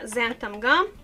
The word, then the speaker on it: xanthan gum: En inglés se pronuncia xanthan gum.